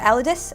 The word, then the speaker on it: Elidas: So I mean, you can pronounce it any way you want. We've had a lot of different pronunciations, but I think it's the Elidas, and actually it's a